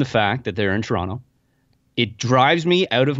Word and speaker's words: Toronto: I'm not saying, "Hello, Toronto." No, definitely not ToRAWnto. But I say Toronto a lot. I pronounce the T-O at the end.